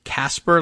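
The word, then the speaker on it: Kacper: we got the pronun the pronunciation is Casper like like the Friendly Ghost except k a c p r I'm guessing is a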